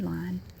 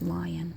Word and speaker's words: Food Lion: Food Lion. Well, we pronounce it, I know it's lion. I know it's pronounced Lion, but we say Lion, sort of like L I N E or L A H N.